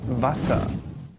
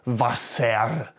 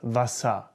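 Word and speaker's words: Wasser: the water does Vasa can you hear the ass at the end Vasa some people might over pronounce it and say thus vosam but no one really does there to be quite honest if you do that you sound a bit odd at least in Germany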